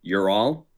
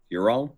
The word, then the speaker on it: Ural: historian tell you uh the europe goes all the way to the pronunciation ural ural mountains uh which um i had seen in um the history book i've seen that uh that term the you're all mountains and i was like